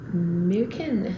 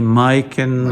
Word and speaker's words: Myken: and the story behind mukin yes you're the first foreigner to pronounce it correctly i think most people say mike and all that kind of stuff that's much that's the right one yeah well i think